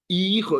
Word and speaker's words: hijo: Hijo. It's a kind of hard word to pronounce because the H is silent and the J sounds like an H.